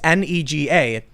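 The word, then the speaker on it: 那个: So it's NEGA, and some people say it's pronounced nay, and then ga, and you can understand why people would pretend to be angry about But that.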